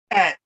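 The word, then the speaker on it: -aat: That's pronounced at, as in rahubat.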